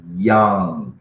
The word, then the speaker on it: young: por exemplo o hispano eles sempre quer usar o Y como J vamos dizer assim então ele fala é I'm j j eu não não é J é Young Young não é John então eles querem transformar